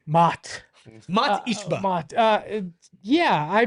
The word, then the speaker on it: Mat: It's spelled Surprised the they way didn't it mispronounce says. Matt since he only used one T. Mott.